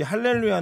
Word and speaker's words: 할렐루야: 겪는다는 얘기를 들은 적이 있습니다 이거 원래 이 할렐루야 는 원래 우리가 그 히브리 와 발음이 원래 그렇구요 또 이걸 이제 헬라어로 바른